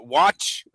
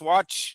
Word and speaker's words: Wach: I actually uh how do you say that? Uh watch. Yeah, that's why I call him watch. So yeah, Marius watch.